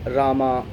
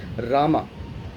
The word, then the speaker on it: Rama: So I thought, and I found a few words like Rama, Ravana, Duryodhana, Kumbhakarna, Ramayana, Mahabharata. And I thought maybe when they were writing it in English, they did not mean to pronounce it as Rama.